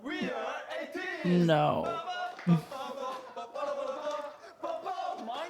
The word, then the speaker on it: ATEEZ: We are Ateez.